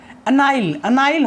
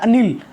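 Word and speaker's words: anile: अनाइल होता है, नील होता है, ये ए वर्ड साइलेंट रहता है। अनिल नहीं होता, नील होता है।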